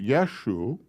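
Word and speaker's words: ܝܫܘܥ: mariah that word is who that word is pronounced yeshu which means yeshua marya he is yeshua the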